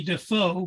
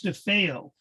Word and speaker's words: DeFeo: And we look at the name and it's spelled like it would be Defoe, but it's DeFeo is his Oh, name.